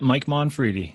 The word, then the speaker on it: Mike Monfredi: Is that how you pronounce it, Mike? Yep, Mike Monfredi.